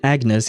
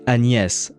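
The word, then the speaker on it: Agnès: That is the way of saying the name in English, but in French uh G plus N makes a sound. So, it shouldn't be pronounced Agnes. It should be pronounced Anest uh in French.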